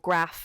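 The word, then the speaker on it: Graff: is actually just called graph uh it's spelled g r a f f rather than like graphically insane but um yeah one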